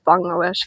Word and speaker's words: Bangladesh: It's actually pronounced Bangladesh, guys.